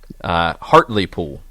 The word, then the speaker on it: Hartlepool: a KFC has checked us this morning Oh Hartlepool is the correct pronunciation Hartlepool and Jeff Jeff Stelling I think